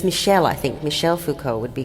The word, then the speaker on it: Michel Foucault: Now, we then get, and this if you can see, is a photo of Michael Foucault. Is that the correct pronunciation of his surname? It's Michel, I think. Michel Foucault would be correct.